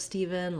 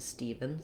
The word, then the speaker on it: Stephen: have what we have the ph says the sound so rewriting it with a v can help you letter e in this word the first letter e says that tense e sound so i've rewritten it here for you with two e's just like in the word need um etc so you can visualize that e sound and then we